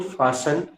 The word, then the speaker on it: fasten: uh, what is silent in fasten? So T is silent.